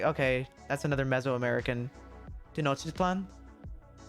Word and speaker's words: Tenochtitlan: Tenochtitlan? How you say Tenochtitlan? Tenochtitlan. Tenochtitlan. That's it. Oh, I can't do that one. Tlelahu is pretty good, right? Tenochtitlan. Toe-notch. It's not toe. It's te, right?